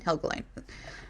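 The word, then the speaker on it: Helgelien: certain gentleman named andrew heligan were saved helga line helgelein is how you say it um we're saved andrew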